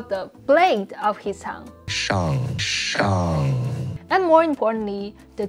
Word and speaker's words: Shang: Another funny thing is that Liu Simu was trying to correct Awkwafina's pronunciation in the movie. Shang-Chi. Shang.